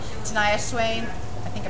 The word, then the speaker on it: Shania Twain: Corey Turco, he plays guitar for Reba McEntire and Kelly Clarkson and Shania Twain. I always say her name wrong.